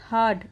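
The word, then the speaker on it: heard: देर के बाद ही हर्ड उसने सुना तो यहां पे आर साइलेंट होता है इसे क्या पढ़ते हर्ड ही हर्ड उसने सुना तो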